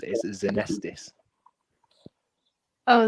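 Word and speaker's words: Xenesthis: too much okay so apparently the way you pronounce it is anesthesis oh it's a nessus apparently saw yeah better than how a friend of mine used to pronounce it was exonestis i would that would drive me up absolutely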